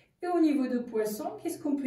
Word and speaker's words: poisson: y achète du poisson attention la prononciation du poisson parce que le mot poison ça remet pas manger ni boire ensuite on paye tout